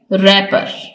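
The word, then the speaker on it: wrapper: इसमें W silent है next रैपर इसमें डब्लू साइलेंट है तो यहां पर हमारा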